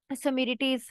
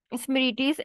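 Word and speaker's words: Smriti: ancient books like Dharmashtra, Samiritis, and maybe it's pronounced like Samiriti या समरीति, बट मुझे जो चीज समझ लग रही है प्रोनाउंसिएशन स्मृतिस एंड अर्थ आष्ट्रा।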